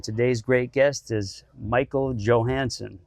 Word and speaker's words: Johansson: Joey Atlas and today's great guest is Michael Johansson correct yes good pronunciation he goes by MJ so you're gon